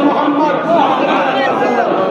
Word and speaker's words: মুহাম্মদ: সুবহানাল্লাহ, বলুন মুহাম্মদ, মুহাম্মদ, আহমদ। এবং ঠোঁটে ঠোঁট না লাগিয়ে কেউ উচ্চারণ করতে দিতেই হবে।